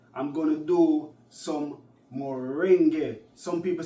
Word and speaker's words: moringa: Moringa or moringa. Moringa is the right word, terminology, pronunciation.